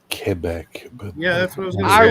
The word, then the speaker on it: Quebec: pronounced cuc thank you very much it's actually pronounced kebec but yeah that's what I was going to